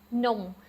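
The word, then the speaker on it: នំ: say is this one, nom. Now it has to be fast. It has to be nom, not a long O sound.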